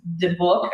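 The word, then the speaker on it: dybbuk: It's the book, I think is how it's pronounced.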